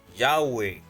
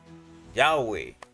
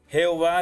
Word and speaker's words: Yahweh: Yahweh. Yahweh. Jehová es una forma híbrida que combina las consonantes Yod, Hei, Vau, Hei con las vocales de Adonai.